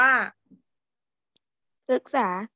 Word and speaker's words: พฤกษา: เอส ครับ โอเค คำ ที่ 2 อ่าน ว่า พฤกษา พฤกษา พฤกษา แปล ว่า อะไร ไป รู้ ไหม